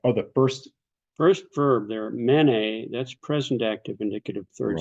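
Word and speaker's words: μένει: So hold on, mene is present or past? Yes. Mene with the accent on the first syllable is present active indicative third singular. Okay. But menes accent, circumflex accent on the second syllable.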